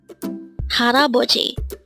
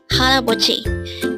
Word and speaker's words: 할아버지: Haraboji. This pronounced as a 4-syllable word. The first syllable is hal, second syllable is a, third syllable is bo, and fourth syllable is ji. Pronounce it with me. Haraboji.